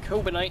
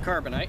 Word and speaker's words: Carbonite: Star Wars for people by saying Cobra Knight instead of Carbonite and I apologize I